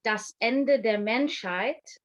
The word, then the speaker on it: Das Ende der Menschheit: So yeah, so it's pronounced Das Ende der Menschheit, and it means the end of humanity.